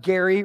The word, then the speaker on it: Geri: Like pronounced Geri right here, like SpongeBob.